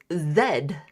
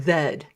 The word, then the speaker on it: Z: here in Canada uh we are supposed to pronounce the letter Z as Zed yeah uh s yeah um WX Y and Zed as opposed to Z but quite often a